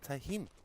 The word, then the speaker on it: Tennheim: At least I watched the video on it, and that's how the gentleman pronounced it, was Tennheim.